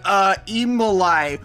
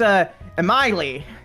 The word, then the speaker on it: Emily: Ensembl-y, what's your question? It's actually pronounced Emily, but oh, my whatever.